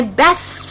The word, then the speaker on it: best: So she's my best friend. So the last letter I pronounce is the S, and I skip the T.